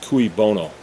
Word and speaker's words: cui bono: I believe it's pronounced cui bono.